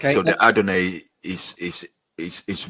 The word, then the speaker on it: Adonai: But um you were meant to see that and see the vowel pointings and then go right that's meant to be pronounced adoni.